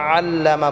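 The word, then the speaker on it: عَلَّمَ: করে আলিফ টেনে পড়বো আল্লামা বলতে আমরা আইন টাকে গলায় চাপ দিয়ে উচ্চারণ করব প্রত্যেকটা আইন আমরা ইনশাআল্লাহ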